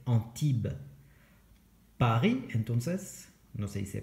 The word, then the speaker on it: Antibes: Antibes, no se dice así, se dice Antibes.